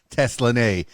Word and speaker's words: Teslanay: was five and um been singing ever since Tesla nay all right well tell me about the name Tesla nay is that the god-given name is that the